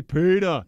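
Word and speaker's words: Peedah: And on Instagram, his Instagram name is spelled out PETA, P-E-E-D-A-H. Right. And now every time I say his name, I can't help but to say PETA.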